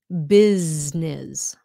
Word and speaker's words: business: you remember the rule it's Z business business why business because it's in between two vowels um so business how